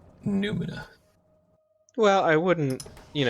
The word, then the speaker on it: noumena: I'm pretty sure it's Numina. Well, I wouldn't, call anybody wrong for pronouncing it noumena. It is pronounced noumena, however, according to me, Hmm. because it's Hmm. spelled with an O and a U.